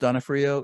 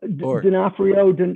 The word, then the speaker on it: Donofrio: our life has always been d-o-n-o-f-r-i-l and it's pronounced Donna Frio is that correct well D'Onofrio Donna Frio but technically uh D'Onofrio okay yeah